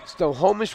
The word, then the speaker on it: Snohomish: newcomer McLaughlin e66 senior forward out of them Snohomish Washington averaging 6.6 points a game as far as I know you nailed the pronunciation in that town that's the way I've